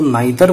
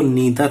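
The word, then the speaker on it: neither: चौथा ये है नन, तो ये नीदर शब्द है, हालांकि इसको नाइदर बोल देते हैं, लेकिन नाइदर बोलना नहीं चाहिए, हालांकि दोनों शब्द उच्चारण ठीक है, लेकिन जो शुद्ध शब्द है वो नीदर है।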